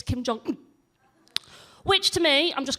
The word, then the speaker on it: Kim Jong-un: That is how you say his name, by the way. I've researched it. You have to drop that last syllable. It's Kim Jong-un.